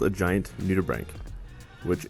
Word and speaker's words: nudibranch: is called a giant nudibranch which it's kind of spelled nudie branch but that's not how it's pronounced it's pretty hard to